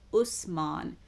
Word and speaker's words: Uthman: on Muhammad's third successor utman now some also um pronounce this name as Usman um or hazzat Usman